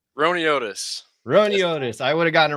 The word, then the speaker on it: Roiniotis: Roiniotis.